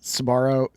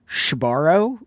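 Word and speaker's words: Sbarro: I I actually heard you pronounce Sabarro Shabbarro, which is a huge red flag for mall rats like me.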